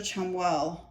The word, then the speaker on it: Chamuel: And I was trying to, like, pronounce it, but I was pronouncing it wrong because it's C-H-A, not S-A.